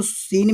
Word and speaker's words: scene: आप बोलते हो, तो सीन में जो स्पेलिंग जो होती है ना वो SCENE होती है। तो ये जो सीन आप SC जो देख रहे हैं वो क्या है, हमारा साइलेंट है।